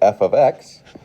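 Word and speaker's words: f(x): i'm looking at is a function and we pronounce it f of x so for example if there was a 4 here we would call this f of 4.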